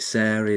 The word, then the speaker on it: Sarie: And today I'm joined by Sar Taylor.